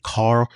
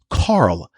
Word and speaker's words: Karl: I say Karl, like C-A-R, but it's Karl. C-A, and it's not C, it's K, K-A-R-L.